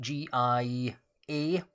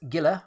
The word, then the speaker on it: Gila: It could be Gialla, but it's Gila, and you'll see actually that it shares part of its name with Argwilla.